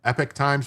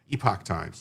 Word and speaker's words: Epoch: I always say it's the epoch times because of the way it's spelled, but a lot of people say epic times. But to me, epic is EPIC, and this is EPOCH. It's epoch times. Like we're in the epoch of times.